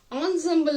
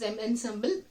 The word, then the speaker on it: ensemble: was part of the now put on traditional ensemble of nine instruments founded Royal Courts see children there is a word e n SEM ble so you may pronounce it as M and symbol but it's Ensemble ensemble is nothing but it's